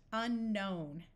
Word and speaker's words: unknown: a prefix and the K will still be silent unknown in this word we